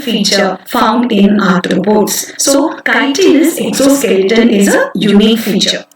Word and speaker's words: chitinous: How to pronounce this word? Chitinous, right? It's not chitinous, it is chitinous.